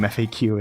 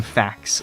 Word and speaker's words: FAQ: queue even though game faq is arguably and by arguably I mean objectively the correct way to say that but it was always game facts in my brain which you know with my lazy pronunciation could easily be game facts like fac TS may not with my